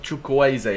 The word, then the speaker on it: Chukwueze: unless you're into it apparently you pronounce his name like chokoise apparently but we'll just call